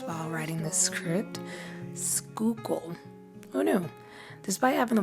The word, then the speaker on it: Schuylkill: way, I definitely had to Google how to pronounce while writing this script. Schuylkill.